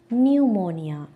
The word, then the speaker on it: pneumonia: Pneumonia.